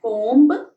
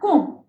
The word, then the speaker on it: comb: not read it as comb because b is silent here you should pronounce it a small comb lay beside the mirror